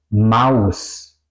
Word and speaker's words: Maus: Por ejemplo, tenemos una A y una U. En alemán, au, au, como por ejemplo auf o Maus, auf, Maus, en o encima de, mouse, ratón.